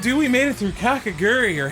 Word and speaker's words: Kakegurui: All right, dude, we made it through Kakegurui, or how do you say Kakegurui? KAKEGURUI. Kakegurui? Rui. Like your girl from Domestic Girlfriend. Rui. Rui. Gurui. KAKEGURUI.